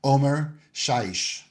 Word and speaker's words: Omer Shaish: I'd like to welcome to the screen Omer Shaish. Omer? Hi, Keith. Hi, how are you? I'm good. That was perfect pronunciation of my name.